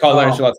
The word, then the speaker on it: Ancelotti: And Ancelotti, that's pronounced it? Ancelotti.